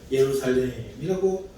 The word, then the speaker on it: 예루살렘: 여기서 예루살렘이란 말은 히브리식 발음이에요. 예루살렘, 히브리, 이스라엘 민족의 언어의 발음입니다. 헬라어 발음도 있어요. 그런데 오늘 여기서 히브리어 발음으로 예루살렘이라고 발음합니다.